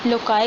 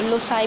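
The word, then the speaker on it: loci: इसको क्या कहते हैं, लोकाई कहते हैं, या फिर हम इसको जो है वो लोसाई भी समटाइम्स की प्रोनाउंसिएशन की जाती है।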